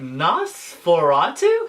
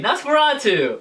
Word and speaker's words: NOS4A2: first i was like what how do you pronounce this uh i don't know i i so i i was like nas florentu hey nosferatu and then in the book they explain to